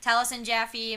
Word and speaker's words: Taliesin Jaffe: It's Taliesin Jaffe. That's how you pronounce it, right? Yeah, Taliesin Jaffe, Marisha Ray, and Sam Riegel.